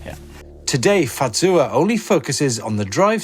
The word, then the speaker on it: Fazua: the first minutes that it comes from a bavarian saying say fatsuwa so it's pronounced a little bit different and it means just